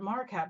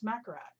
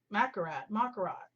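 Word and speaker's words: Makartt: I always called it Marquette, but it's Macarat. Macarat.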